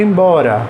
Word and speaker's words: embora: Agora e embora. Ó, qual é a rima? O ora. Mas onde é que está a sílaba tônica? Na penúltima sílaba. No go e no bo, certo?